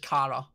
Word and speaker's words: Kara: sounds like you're saying, when I say it, I have to say like the word care, and then Kara. I feel like the Scottish accent probably helps actually, because isn't it you guys pronounce it Kara anyways? Yeah. I mean, I'd pronounce it just Kara. That is, isn't that the right pronunciation? Yeah, it is.